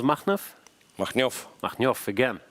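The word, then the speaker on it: Makhnev: How do you pronounce Machnev? Machnyov.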